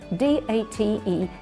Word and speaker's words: date: date for the meeting look at the pronunciation the final e d a t e you don't hear we talk about the date of the meeting so the date could